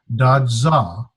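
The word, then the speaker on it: δόξα: It is pronounced with the accent is on this first syllable, da, and this zeta sound, dadza. As a z, dadza.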